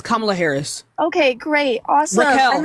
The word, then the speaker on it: Kamala Harris: Tell me one accomplishment that Kamala Harris before we can do that, first of all, it's Kamala Harris.